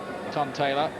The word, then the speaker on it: Ntontela: slugging of this lunger his name looks like anton taylor to look at it on paper but i'm told reliably that you miss off the first end when you pronounce it he's only had 10